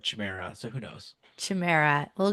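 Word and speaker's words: chimera: gardens they had um how do you even pronounce this the Chima c h i m e r a i say Chima and the only reason I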